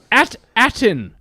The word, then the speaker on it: At Attin: starting off we got at attin is the name of the planet it sounds like Aladdin it does kind of sound like Aladdin and it sounds like